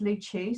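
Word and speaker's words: Lou Chu: who don't know me my name's lou it's luchu so it rhymes nice and easy to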